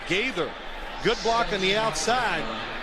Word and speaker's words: Gaither: Gaither, good block on the outside.